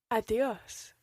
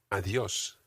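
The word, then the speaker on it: adiós: in spanish is adios adios adios try to get that soft d in there again think of the word the adios of the earth of the earth so you can use adios at any time of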